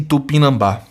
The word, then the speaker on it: Tupinambá: O acento do termo Tupinambá se justifica porque a sílaba tônica recai na penúltima sílaba. Falso. Lembrando, a primeira estava falsa, porque é proparoxítona, né, e não paroxítona. Aqui também está falso, porque aqui é oxítona, sílaba tônica é a última.